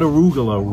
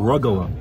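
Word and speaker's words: rugelach: hamach in here mhm arug not arugula rugala not arugula not arugula it's not a leafy green veget yes I said it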